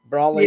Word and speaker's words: Broly: Is that the correct pronunciation? Anime Girl for an umbrella. Broly.